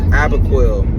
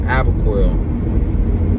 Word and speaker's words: Apoquel: more dog medication so my dog needs abacoil I know I've been saying it wrong I don't know what word I was saying in the previous videos but it's called apoquel my goodness it's probably